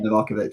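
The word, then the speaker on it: Livaković: Is it Livakovic? Is that how you pronounce his name? Yeah, Livakovic, yeah.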